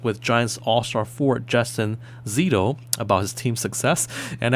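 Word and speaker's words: Szeto: one, I spoke with Giants all-star forward Justin Zitto about his team success. And actually, last week on this program, I mispronounced his name. It's spelled S Z E T O but it's pronounced ZTO.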